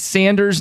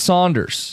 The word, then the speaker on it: Sanders: John, it's Sanders, not Saunders. Okay. Yeah. It's always been Saunders in my family. Yeah. I know it's spelled S-A-N.